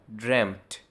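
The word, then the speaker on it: dreamt: Second और third form को ड्रेम्ट ड्रेम्ट ऐसे प्रोनाउंस करते हैं।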